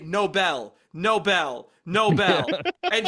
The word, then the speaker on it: Nobel: oh my God Robbie she mispronounces Nobel Prize did you guys catch this Noel prize yeah she goes you turn